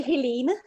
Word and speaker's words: Helene: definitely reach out to, is it Helena, do you say? Helena? Or Helene? How do you say in Danish, it? we say Helene. Helene. Okay. Yeah, it's because it's only we say Helen, Helen is just fine.